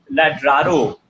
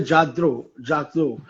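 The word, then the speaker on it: Lladró: What do they have to say on brands like Ladraro? And I think I'm pronouncing it wrong. LLADRO. It's a Jadro. It's a Spanish. Jadro.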